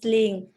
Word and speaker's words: Lien: My name is Lin. It's spelled Lien. You can call me Lin.